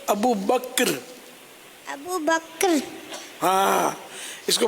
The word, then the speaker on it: ابو بکر: بکر بکر ابو بکر, عوام ابو بکر ہی بولتے ہیں, یہ صحیح تلفظ ہے ابو بکر.